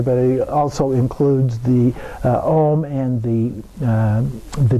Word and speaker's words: Om: he also includes the Om and the D at the end there. So Om, also spelled A-U-M, sometimes considered to be a combination of the sounds of those 3 letters coming together, is considered to be